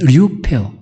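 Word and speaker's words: λυπέω: 발음이 류페오.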